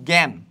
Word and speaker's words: জ্ঞান: কিন্তু একটা উচ্চারণ হয় পরবর্তী দেখতে পাচ্ছি যে ইয় যোগ করে তোমার গয় গ এর মত হচ্ছে যেমন জ্ঞান যজ্ঞ জ্ঞান যজ্ঞ উচ্চারণ এগুলা কিন্তু খুবই ইম্পর্টেন্ট